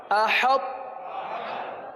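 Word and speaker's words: أحطت: حمزہ زبر ا، حا طا تا زبر حط، حط، احط.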